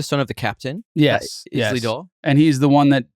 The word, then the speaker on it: Isildur: It's like a dinosaur. Isildur?